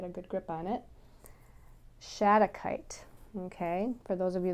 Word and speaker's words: shattuckite: i can get a good grip on it shattuckite okay for those of you that are wondering how to spell that it's s h a t t u c k i t e shadow kite and shattuckite helps to connect you with your